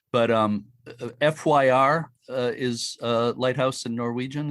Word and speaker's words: fyr: mediocre pronunciation but um fyr is uh lighthouse and norwegian is that correct uh that's correct yeah how do you how do you pronounce that feed feed fear that has a few